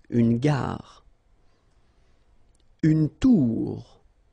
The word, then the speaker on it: tour: Une tour, okay, O-U, ou, une tour.